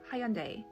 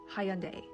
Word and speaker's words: Hyundai: you see this and you say, Hyundai, Hyundai, Hyundai. Where did the third syllable come from?